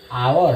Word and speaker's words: hour: मतलब क्या है, यानी the H at the beginning of R is silent, यानी जो ये आवर है, यानी इसका शुरुआत में जो H है